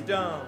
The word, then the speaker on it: Dohm: my last name is Dum no that's awesome oh you pronounce it dum I was pronouncing it D no I'm not on